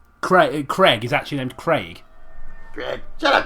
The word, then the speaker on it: Craig: Well, no, to be fair, but I've noticed a lot of Americans say Craig. In fact, I used to date an American lady who didn't have much of an accent, but she still said Craig a little bit.